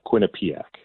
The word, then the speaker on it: Quinnipiac: Not the question that I thought I was going to get asked this morning, but I believe that you are talking about Quinnipiac.